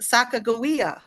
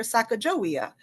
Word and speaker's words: Sacagawea: like Jake who are teaching me even that Sacagawea. I learned how to pronounce that in my learning with Jake. I had always called her Sacagawea.